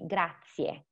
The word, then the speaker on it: grazie: As I was saying before, we do pronounce all the vowels in the word. So it's going to be grazie. Not grazie, but grazie. Okay?